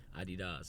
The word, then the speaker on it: adidas: they're made in Europe they always pronounce it Adi does which for years I wish I was adidas so I'll keep saying adidas until somebody corrects me